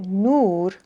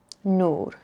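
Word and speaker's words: نور: Now notice on the left, if we add another letter and we get nur, it changes again back to that u sound, like blue, nur.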